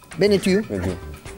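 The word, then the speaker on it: Benneteau: Beneu, así se pronuncia y estaba preocupado el curso por meteorito.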